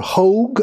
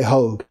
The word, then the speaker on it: Hogg: David Hogg, or Hogue, I guess he goes by. I think it used to be pronounced Hogg, but, you know, Hogg is not a real popular animal, maybe.